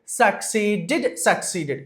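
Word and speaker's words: succeeded: whenever you find the spelling ded at the end of any English word, that ded must be pronounced like did.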